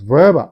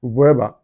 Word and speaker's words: Weber: So, Max Verber Max Verber is the right pronunciation you know in German. But some English, you know, people who speak English actually sometimes call it Max Weber Weber or even American Max Weber.